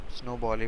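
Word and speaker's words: SNOBOL: है तुम्हारे पास एपीएल और स्नो बॉल स्नो बॉल pronounce करते हैं और एपीएल फुल फॉर्म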